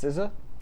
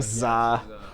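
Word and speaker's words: SZA: beat out them too it's pronounced sizza right i've been saying za i've been saying za like pizza montero uh by little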